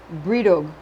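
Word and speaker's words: Brídeóg: This figure is called a biddy, or if you prefer the Gaelic, Bredigog, pronounced Bridog. You also need a phallic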